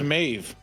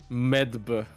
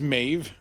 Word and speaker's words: Medb: me Med it's just mave medb but isn't it just pronounced mave yeah it's just may it's Med some people still say Med Med Med here's the